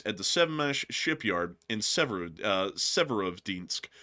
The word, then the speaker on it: Severodvinsk: the Sevmash shipyard in Severodvinsk if I'm pronouncing that correctly. Basically it's Severodvinsk. That's the that's the name of the city if I was to like bastardize it into English but I'm trying to do my best here.